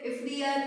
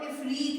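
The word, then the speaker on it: عفریت: Usually people say this ifriyat or afriyat, but the right pronunciation of this word, इसका सही जो अदायगी है वो ifreet है.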